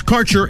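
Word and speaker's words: Kaercher: Quality cannabis Insurance Services is spelled k a e r c h e r that's carer insurance we have worked with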